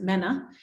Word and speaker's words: MENA: If you're British, they pronounce it MENA.